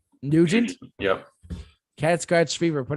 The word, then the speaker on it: Nugent: artist i second that ted nougat oh is it neutral i know how to say his name nugent yep cat scratch fever